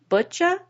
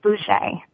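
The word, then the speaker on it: Butje: with internationally known Andrea Butcha. Am I pronouncing that correctly? It's Boucher. Boucher.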